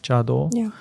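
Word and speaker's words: 茶道: in Japanese you mentioned Sado also sometimes pronounced chado and it's a kanji for tea cha and do which is like the road the way so the way of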